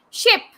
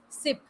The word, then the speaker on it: ship: as he she ship ship ship ship means jahaj but people pronounce it as sip now what is the